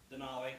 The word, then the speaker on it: Denali: Denali, like the mountain or.